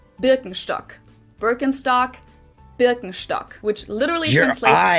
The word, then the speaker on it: Birkenstock: with their native accent, so English speakers usually say Birkenstock. In German we say Birkenstock.